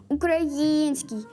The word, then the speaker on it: український: Правильний наголос у слові український на третьому складі український.